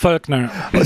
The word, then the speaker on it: Voelkner: It's Voelkner. See, I would have butchered that one.